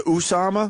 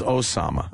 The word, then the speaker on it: Osama: Did he go with the Usama? Well, Fox is Usama. Fox loves saying Usama. Everyone else is Osama.